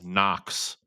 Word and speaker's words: Knox: Butch is from uh Knox. Uh, and Knox, uh, Knox had a a silent K for a very specific reason.